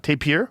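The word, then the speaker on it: tapir: Ta taper you say it taper. Yeah. Tapier.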